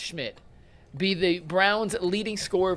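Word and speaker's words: Szmyt: The question was, will Brown's new kicker Andre Schmidt, and I can't believe that last name is pronounced Schmidt, be the Browns leading scoreer versus the Bengals?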